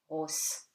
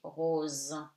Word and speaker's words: rose: So, S between two vowels becomes Z, rose. Okay, you don't say rose. Okay, you say rose.